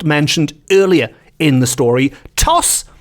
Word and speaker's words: Tos: Toss, which is spelled T-O-S, just the one S.